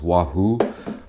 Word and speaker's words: Wafu: This one is called the Wafu Burger. I was told it's actually pronounced Wahoo, but in English, they spell it Wafu.